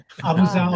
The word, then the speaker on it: Abughazaleh: And we'll start off with, I'm going to try this last name now, Abughazaleh. Do I have it right? Pretty close. Abughazaleh. Abughazaleh. Okay, emphasis on a different syllable.